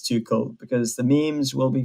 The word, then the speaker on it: Tuchel: name and so oh it's actually too cold not too short i thought it was too initially i had called it two shells so yeah surprise and